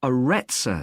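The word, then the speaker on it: Arretsa: got a rather strange name it's called the aretza center that's spelled a double r e t s a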